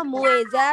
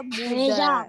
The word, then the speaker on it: Mueza: Iya, bacanya Mueza, dibaca Muza. Mueza atau Muza ya.